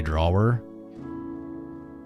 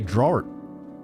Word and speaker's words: drawer: I love that you say draw her. Wait, how do you guys say it? Drawer. Even you say drawer. Drawer, it's still two syllables.